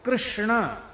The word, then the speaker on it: कृष्ण: है क्यों कहेंगे च अब देखो कृष्ण ये शुद्ध उच्चारण कृष्ण ये शुद्ध उच्चारण